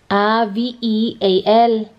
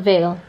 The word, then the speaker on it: veal: what the how do you spell it they ve al it's pronounced view away from a baby shower B fees for my dad okay Ojai so deal it's not Vale real veal veal guys not Vale baby cow Palazzo B if more to be